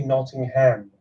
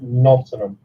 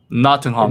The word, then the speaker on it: Nottingham: All Americans always say Nottingham. As people from where I'm from in the East Midlands, we call it Nottingham. Nottingham.